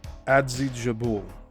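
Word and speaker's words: Adzhijabul: They were traveling by train in the Trans-Caucasus region between Atjadi and Adzijabul.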